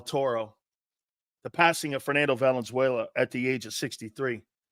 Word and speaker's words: Valenzuela: is the most influential Los Angeles Dodger ever Valenzuela I mean what he did in LA and